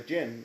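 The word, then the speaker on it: jinn: on people they are the gin the gin not gin like you're drinking gin and tonic it's it's pronounced dj of the dj in is it club distance the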